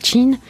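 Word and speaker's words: 请: disant aux autres chin ce mot chinois se prononce chin et signifi je vous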